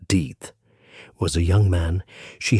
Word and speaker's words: Death: William Death, his surname pronounced Deeth, was a young man she had briefly dated before he had married another woman a few weeks earlier.